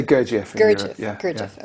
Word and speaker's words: Gurdjieff: Well, he stole it from Gurdjieff.